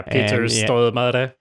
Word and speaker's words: Peter Stormare: Yeah, Peter Stormare.